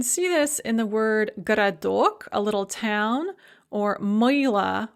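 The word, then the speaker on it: городок: so you can see this in the word garadok a little town or moyla or liana or nina so garadok the first o is pronounced the second o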